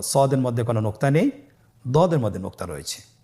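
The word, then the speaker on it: ض: পরবর্তী হরফের নাম হলো দদে। দেখতে একই রকম সদের মতোই, শুধুমাত্র নোক্তার পার্থক্য। সদের মধ্যে কোনো নোক্তা নেই, দদের মধ্যে নোক্তা রয়েছে। দদ হরফটি উচ্চারণ করার সময় অবশ্যই 3 আলিফ টেনে পড়তে হবে।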